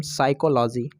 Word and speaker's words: psychology: PSYCHOLOGY, तो इसको पढ़ेंगे हम साइकोलॉजी। इसको साइकोलॉजी नहीं पढ़ेंगे, इसको साइकोलॉजी पढ़ेंगे। साइकोलॉजी, इसको साइकोलॉजी पढ़ेंगे क्योंकि यहाँ पर एस है और एस से पहले पी आया है तो यहाँ पर पी को साइलेंट रखेंगे।